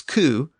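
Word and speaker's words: cū: They also had the word sow, and just as a cow was coo, a sow was a soo.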